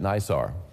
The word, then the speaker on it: NISAR: Are we am I pronouncing it right? Uh is it NISAR?